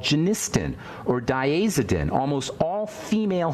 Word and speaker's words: genistin: Inhibitors you may have heard of something called genistin or daidin almost all female Health supplements will